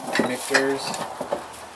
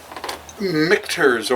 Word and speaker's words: Michter's: Michters or Michters. Michter's. What? Michter's. Michters. That's what I first said. Yeah. You said it right the first time.